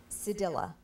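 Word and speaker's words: cedilla: continue here one more sadilla sadilla sadilla can I have the language of origin this word is from a word that went from Latin to Spanish sadilla are there any alternate pronunciations sedilla sedilla oh stop it's also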